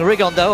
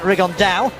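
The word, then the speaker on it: Rigondeaux: T's talked about fighting Rondo or as he's correctly pronounced with the Spanish accent rigonda and two absolute Geniuses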